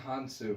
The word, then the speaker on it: Hounsou: I would argue Djimon Housen, I believe is how you pronounce his name. Djimon Hounsou.